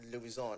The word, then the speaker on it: Luisant: Luisant. Okay, yeah. Luisant. Is it Luisant, right? Luisant. Aha. Because the French pronunciation says Luisant.